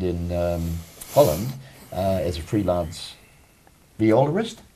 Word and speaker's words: violist: composers, the instruments, because you worked in orchestras in Canada and in Holland as a freelance violist.